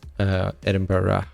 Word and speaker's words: Edinburgh: Edinburgh or Edinburgh which I say a lot Edinburgh that's how they pronounce it so that there's a little travel